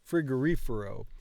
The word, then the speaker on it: frigorifero: it again Fifer frigorifero cuz I always want to pronounce the words I want to stress the words wrong and I don't know why un f f un frigorifero frigorifero frigorifero so the stress is here un frigorifero yeah